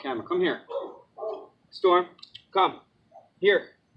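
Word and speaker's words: hier: Here. And here is actually the same. It's spelled different, but it sounds the same.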